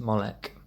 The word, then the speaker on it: Moloch: c h sorry um sometimes um pronounced molek um it's found in